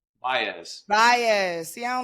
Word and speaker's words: Baez: How do you pronounce it? Baez.